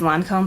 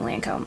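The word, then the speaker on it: Lancôme: the rest of the I know the right way to say is Lancome but I just feel better saying Lancome anyways so I figured I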